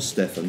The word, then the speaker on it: Stephan: Against intellectual property is the book by Stephen Kinsella, spelt Stephen, but I believe pronounced Stephen, as Neil Ferguson is not Niall Ferguson, even though it's spelt that way.